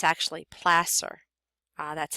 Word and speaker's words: placer: you might think it's Placer um but it's actually pler uh that's how you pronounce it this is pler mining so pronounced like it's an SS instead of a c r and this uses